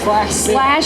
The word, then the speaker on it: SLASHville: SLASHville. Like Nashville, Like but Nashville, but SLASHville Studios.